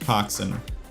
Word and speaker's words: coxswain: Because there's another, like, sailing term which is Cockswain, which looks like coxswain, but it's actually pronounced coxswain.